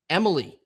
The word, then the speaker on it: Eemeli: His first name is pronounced Emily, like the girl version, like Emily.